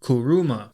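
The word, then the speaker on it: 車: the Japanese word for car and that is kuruma kuruma is spelled k-u-r-u-m-a and kuruma is very relevant to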